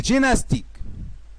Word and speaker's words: gymnastique: Les mots condamné et gymnastique. Les lettres M, N se prononcent N seulement. La lettre M est non prononcée. Condamné, gymnastique.